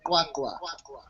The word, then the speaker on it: QwaQwa: My area is called Kwakwa. It's QWA Kwakwa.